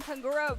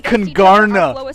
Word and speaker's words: Kangarna: Pairing three Team Kangura Valorant Pro influencers and Esports Tower players to compete in a tournament. The team she said it wrong. It's Kangarna. It's Kangarna.